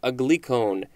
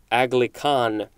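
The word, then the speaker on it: aglycone: our next word is a glicone or is it agli no a glicone a-g-l-y-c-o-n-e and it looks like it could also be agli khan this is a noun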